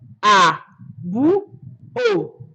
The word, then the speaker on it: àbúò: dialect, it's being called àbúò. Àbúò. Àbúrò mi. Àbúrò mi. Àbúò. The R in Yoruba is being removed when you want to pronounce it in Ondo dialect.